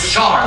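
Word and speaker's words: Shahar: hæ are Benjamin sharp it's not so hard it's sharp that's how you pronounce it now been 35 years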